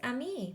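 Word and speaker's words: ami: you say friend in French the word is Amy my mom says you say it like this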